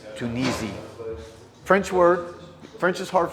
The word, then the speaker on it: Tunisie: you got it you see it souvenirs de tunis um actually it's tunisi french word french is hard for me to pronounce so cut me some slack souvenirs de